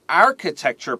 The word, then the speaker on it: architecture: Their architecture program has a good reputation.